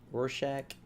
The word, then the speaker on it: Rorschach: That's how you pronounce it, right? Rorschach?